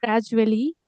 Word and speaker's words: gradually: Yeah, Example, I was saying gradually. It is actually gradually.